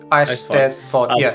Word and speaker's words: Eisteddfod: Well, how do you pronounce it? Eisteddfod? Eisteddfod.